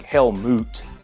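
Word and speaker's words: Helmut: survived by a sun helmet who became the 13th baron zemo or is that pronounced like hell moot h-e-l-m-u-t i don't know i say helmet learning of his father's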